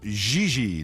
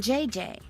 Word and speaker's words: Xi: On FR, you pronounce G like J and J like G. She may very well be JJ in America, but in France she is Xi.